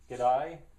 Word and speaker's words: g'day: G'day, that's the way I'd pronounce the Australian way of saying good day, g'day.